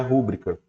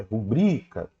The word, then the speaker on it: rubrica: errado pronuncia errado pronuncia rúbrica a sílaba tônica não tá aqui no ru a sílaba tônica tá aqui no bri ó é rubrica Ok é rubrica por